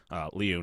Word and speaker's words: Liu: Liu, not Lou.